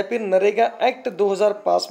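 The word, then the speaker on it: MNREGA: ये मनरेगा को दोस्तों नरेगा कहते हैं। क्या कहते हैं? नरेगा। यम इसमें साइलेंट होता है, यम NREGA। मनरेगा को दोस्तों क्या कहते हैं? नरेगा।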